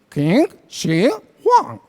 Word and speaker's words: Qin Shi Huang: emperador que se llamaba qin shi huang se pronuncia así que si one porque yo sé un